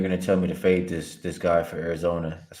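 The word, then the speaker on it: Pfaadt: is somewhat of a fade of Brandon. I guess they pronounce it, their home announcers pronounce it Fa. The double A, kind of a European sound there. Brandon Fa has not been good against any reliable offense so far.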